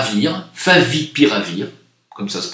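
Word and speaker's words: favipiravir: composée à base d'oeuf à vivre à venir favi pire à vire comme ça se prononce totalement sûre et efficace a expliqué le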